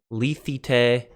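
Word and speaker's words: λύθητε: Lethite, lethito, lethite. I pronounced the first one incorrectly. Lethite. 3 different vowels, same sound across the board.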